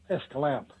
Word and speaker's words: Escalante: But they actually down there pronounce it Escalante.